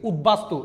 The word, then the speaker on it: উদ্বাস্তু: আরেকটু স্লো পড়াচ্ছি আচ্ছা উপসর্গের সাথে যদি কোন ব ফলা থাকে এটা মাস্ট উচ্চারণ হবে যেমন উদ্বেগ এখন আমি আপনাদেরকে আরেকটা দিয়েছি উদবাস্তু এটা উদযুগ বাস্তু হয়ে